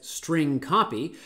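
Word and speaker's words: strcpy: something like this but i pronounce this as string copy the string copy function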